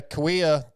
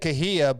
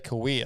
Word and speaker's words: Kauai: I've always said Kahia, but I'm almost positive the locals say Kauai. Oh, I always said like Hallelujah or something. No, it's definitely not that. I think it's Kauai.